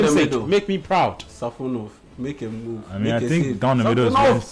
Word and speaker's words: Safonov: No, but like it's pronounced like Safonov. Like the Russian, Russian style.